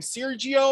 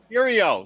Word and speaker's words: Serio: Sergio or Circo or how? Serio.